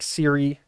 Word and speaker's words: Siri: sent me a note her name is siri s-i-r-i spelled like siri the voice assistant for apple so i really have no excuse for some weird pronunciation i made up maybe it was just i was assuming well it can't be pronounced like the the voice app so siri uh my apologies but